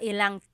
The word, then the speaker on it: ilang: Instead of mga ilan na tao ang darating, it's mga ilang tao ang darating. About how many people are coming. So that's just a pronunciation tip. Make that contraction to make it flow a little bit better.